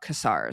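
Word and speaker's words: Ksar: And we learned a lot about Casar. So Casar is spelled K S A R.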